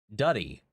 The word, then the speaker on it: Dutty: It's Dutty. It's Jamaican to us for dirty and dirty. Wine is a dance. A song rhymes with putty.